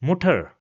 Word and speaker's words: Mutter: So we will pronounce it as Mutter, again with a short sound, Mutter.